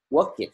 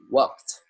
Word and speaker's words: worked: Thì chúng ta sẽ không thêm đi, chúng ta không đọc là work it các bạn. Chúng ta đọc là worked.